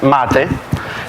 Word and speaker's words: MATE: I will start with pronunciation it would be hard for non-english speaker because it's Matty the name come from South America and I up the